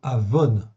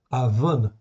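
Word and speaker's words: עָוֹן: Ces deux mots, c'est très proche, mais ils s'écrivent pas du tout pareil. Okay, ça se prononce presque pareil, okay, d'où la confusion, mais ça ne s'écrit pas de la même manière.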